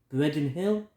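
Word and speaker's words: Breidden: got here photograph of Breen Hill I think that's how you say it I say pronounce it it's spelled b r e i d d e n Hill um then you've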